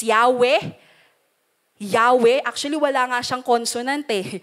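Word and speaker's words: Yahweh: para mabigkas yan kasi pagka walang vowels yan puro hinga lang ganon par p ganon mo siya babasahin eh so para mabigkas ng tao yahwe nilagyan nila ng a ng e and the very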